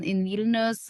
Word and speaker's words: Vilnius: Did I pronounce that right? Vilnius, that's the capital.